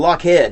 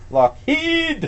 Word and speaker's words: Lockheed: The way you pronounce Lockheed makes my hair stand on end. Lockheed. It's what? How do you pronounce it? How do you pronounce it? He says Lockheed. I just say Lockheed. Oh. It's okay. I say Lockheed. Okay. I say Lockheed. Heed, pets, no! I'm going to start calling him Lockhead.